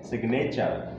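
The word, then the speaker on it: signature: और यहाँ क्या है, सिग्नेचर, इसमें भी क्या आ रहा है, सिग्नेचर में भी जी एन क्या आ रहा है, साथ में आ रहा है लेकिन इसको प्रोनाउंसिएशन किया जा रहा है।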